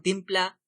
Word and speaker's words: timpla: Sabi nga sa jingle, quote, mas masarap ang timpla. Timpla ang pagbigkas, pero sa kanta, timpla.